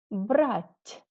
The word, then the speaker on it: брать: With a soft sign, with мягкий знак, it is more soft, much softer.